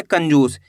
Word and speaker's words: कंजूस: कंजूस।